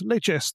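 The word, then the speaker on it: Leicester: Earl of leester you get to hear and pronounce is leester as they saying it's a fabulously strange romantic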